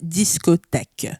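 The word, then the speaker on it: discothèque: back yeah discotek exactly if you guys wanted to know how it's pronounced discotek uh back in the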